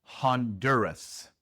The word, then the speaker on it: Honduras: En inglés, Honduras se pronuncia Honduras. Honduras. Este es uno de los países que se pronuncian bastante diferente en inglés. Primero, en inglés, la H se pronuncia Honduras. La O se pronuncia como A. No es ho, sino ha. El sonido corto de la O en inglés es A.